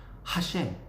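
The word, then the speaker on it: השם: 유대인은 히브리어로 야훼 하나님을 가리키는 신성 대문자가 나오면 하셴 이렇게 발음을 합니다.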